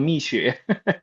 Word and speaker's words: Mixue: Uh, no one outside of China knows how to say this name. It's called Mixue, but it's a very famous brand.